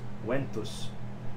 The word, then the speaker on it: ventus: So in the original Latin, it would be pronounced Ventus. But I kept it as Ventus for a number of reasons.